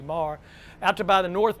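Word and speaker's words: Meagher: Many people say meager, but the Irish pronunciation is a soft G, Marr.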